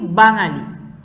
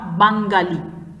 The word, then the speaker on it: বাঙালি: আমরা যে বাংলা বা বাঙালি এই শব্দগুলো বলি এগুলোতে কিন্তু গ নেই, কি আছে শুধু উময়ে আকার, এ কারণে আমরা কি বাঙালি, নট বাঙ্গালি। ঠিক আছে, এরপরে চলে আসি ইয়।